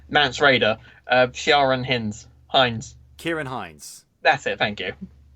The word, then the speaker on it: Ciarán Hinds: a Christopher Plummer no it's Oscars face com pronounces the name mance rayder Sharon Hines Hines ciarán hinds that's it thank you it's Kira come on